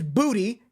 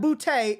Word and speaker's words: Boutte: And it is Booty. It is not Boutte. It's Booty. It's Booty? It is Booty. We have been saying it wrong all year.